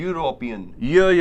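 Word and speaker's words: European: Word भी vowel है, बट जब इसको हम प्रोनाउंस करते हैं ना गाइस तो हम बोलते हैं यूरोपियन, या.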